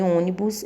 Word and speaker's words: ônibus: Porque em história, o som representado pelo O é aberto e em ônibus ele é fechado.